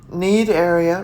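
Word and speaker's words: Cnidaria: called tinofera and a related phylum called nedaria need area really yes but it's spelled c-n-i-d-a-r-i-a and 1004 it's the related phylum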